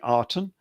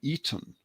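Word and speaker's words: Aten: Reed Griff glyph and that's pronounced with an E more than an A so we normally say the arten but it was actually the Eaton or the Eden and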